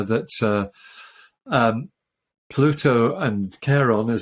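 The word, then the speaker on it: Charon: is correct uh that uh um Pluto and Caron as it's normally pronounced Sharon we had a discussion before the show didn't we about how you should pronounce this and I said don't don't call it Karen sure anyway yeah I I've heard NASA people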